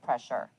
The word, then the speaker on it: pressure: searcher c-h-e-r pressure s-u-r-e listen to that sound again pre-sure it almost sounds like an sh but notice there is no sh in the word pressure future you hear that